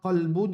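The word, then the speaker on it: قلب: Par exemple, qalbun et kalbun. Ça veut dire, nous besoin qu'on prononce qalbun, c'est l'équerre. Kalbun, c'est des chiens.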